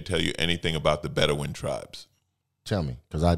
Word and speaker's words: Bedouin: I believe that's how you spell it. Bedouin.